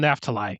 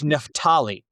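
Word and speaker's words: Naphtali: I I always pronounce it um Neftalai, which is obviously it's a very American.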